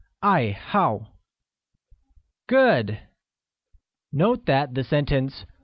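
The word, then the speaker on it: 爱好: what are your hobbies hobby translates as i hao which is pronounced with a falling tone on both a's once again it's i hau good note that the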